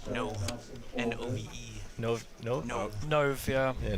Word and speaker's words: Nove: It says here on the paper he wants his name pronounced Nove. Nove. N-O-V-E.